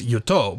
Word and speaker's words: yoto: The second word might at first sound like our previous yoto, but notice that the stress is now on the first syllable.